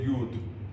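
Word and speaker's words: יוד: but today in Hebrew most people would say yud what does yud sound like like a Jew right yud how do you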